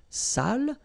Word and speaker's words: sale: So if you don't put the accent, it means dirty, and then you pronounce it sale.